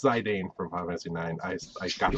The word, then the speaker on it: Zidane: enlighten me on how that's pronounced, because in the Zidane? city- Penis. It's Zidane? Zidane. It's Zidane.